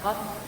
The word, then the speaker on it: Qaf: Hay otra letra que es muy parecida, que es la Kaf. Una cosa es la Qaf y otra cosa es la Kaf. Qaf, Kaf. Qaf, Kaf. ¿Notan la diferencia en la pronunciación?